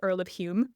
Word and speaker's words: Home: with a U to Hume with an O, but still pronounced like Hume with a U to make a family relationship to the Earl of Hume more plausible.